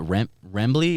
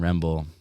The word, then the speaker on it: Remble: Is it Rembley or Remble? Remble, yeah. What is it? It's what's that video called? Just look it up. Fucking, it's Yachty and Remble.